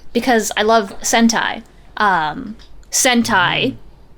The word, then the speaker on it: Sentai: I love Sentai um Sentai not the other thing that rhymes with send time don't even worry about